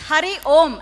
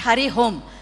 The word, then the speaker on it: Hari Om: to everyone hurry home so it is Hari om and not Hari home so you can't go